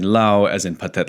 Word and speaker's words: Laos: this I'll be saying Lao as in patet Lao uh but uh La is not wrong it's just sort of the English pronunciation of of the laan